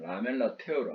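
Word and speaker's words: lamellar tear: 왜냐하면 이게 균열도 태열이 되고 눈물일 때도 있고 하니까 이 발음이 조금 달라지는데 여기서는 그냥 라멜라 테어로 알아두세요.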